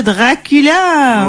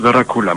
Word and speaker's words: Dracula: Ah, les Carpates, oui, le pays de Dracula. Non, Dracula. On prononce Dracula, madame.